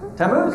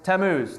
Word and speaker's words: Tammuz: How would y'all pronounce it? The name of the idol. I just want to be curious. Tammuz. Hey, perfect. Good job, Matt Heinley. No, hey, you got it. So, Tammuz.